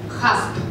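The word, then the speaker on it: HACCP: ХАСП. Здесь? ХАСП. ХАСП. Да? Все верно. То есть произносим мы его по английской, в английской транскрипции. Это понятно, да? ХАСП.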